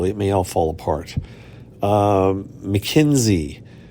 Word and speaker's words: Makensy: Mackenzie, which is spelled Makensy.